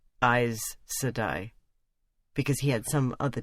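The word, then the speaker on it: Aes Sedai: shocked to hear that we pronounced it eyes sadai because he had some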